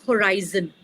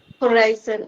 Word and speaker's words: horizon: You need to change the pronunciation of horizon Horizon is and not horizon.